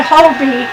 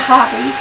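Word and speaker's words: Hobbii: by Hobie yarn and I pronounce it Hobie and not hobby because Obie pronounces it Hobie and you watch J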